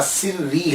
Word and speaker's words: سری: پھر ایک پروننسیشن اور مشہور پروننسیشن جو ہے، تلفظ جو ہے وہ ان کے نام کا سری ہے۔ سر الدین سری، سر کہتے ہیں راز،